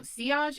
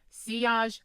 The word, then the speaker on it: sillage: All right, now seage is spelled s i l l a g- e. And that is your scent trail. That is what you leave behind you. So projection around you, seage behind you.